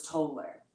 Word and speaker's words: Toller: Except to the rich girls, to them I was Toller. Rhymes with solar, not dollar. Rhymes with polar, not polar.